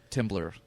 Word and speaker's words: Temblor: sure Brewery in town is just Tim blur that's how people temblor say real quick like